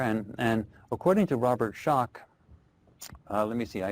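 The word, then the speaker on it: Schoch: uh it's s c o c but it's pronounced shock and he's written the book forgotten civilization where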